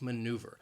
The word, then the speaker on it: maneuver: cake sound Heimlich and maneuver has three syllables and the stress is on that second syllable this is also a challenging word to pronounce maneuver the Heimlich maneuver you